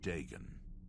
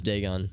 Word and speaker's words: Dagon: So it's pronounced Dagon. I thought this whole time I thought it was Dagon. I am Harrow, warden of the Shrine of Dagon. Oh, see, he pronounces it Dagon.